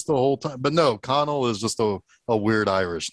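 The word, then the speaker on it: Conal: how colonel is spelled oh yeah am i mispronouncing this the whole time but no connell is just a weird irish name i guess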